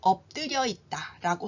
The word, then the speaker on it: 엎드려 있다: 붙이고 누워 있는 것을 엎드려 있다라고 하지요 이때 피읖은 비읍으로 끝 소리 규칙에 따라서 바뀌게 되고요 드는 된소리 되기로 발음이 됩니다 이따 역시 된소리 되기 발음이 되지요 자 다시 한번 제가 읽어